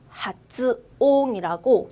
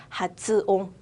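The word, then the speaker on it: 発音: 하츠옹이라고 또박또박 하츠라고 읽을 거예요. 또박또박 하츠. 츠가 작아지지 않고 그대로 하츠라고 읽을 거예요. 발음은 하츠옹.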